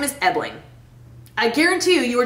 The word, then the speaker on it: Ebling: Okay, my last name is Ebling. I guarantee you, you were just like, what? Don't say what! It is so easy! Ebling. Ebling. It is spelled just like it sounds.